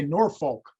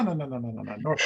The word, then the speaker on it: Norfolk: And Norfolk. Am I pronouncing it correctly? I always would say Norfolk. And people would go, no, Norfolk.